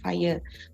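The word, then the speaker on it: FHIR: for the data interoperability we call it fire so fire stand for uh uh what you call we spell it fire but actually it is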